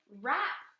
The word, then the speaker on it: wrap: presents she likes to wrap presents in the word rap we have the silent w number four i will